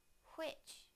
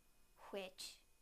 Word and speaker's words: which: Now the hu sound in the word which, which, which.